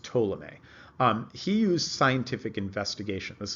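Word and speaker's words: Ptolemy: guy tola may on the P is silent by the way so it's pronounced tola may he used scientific investigation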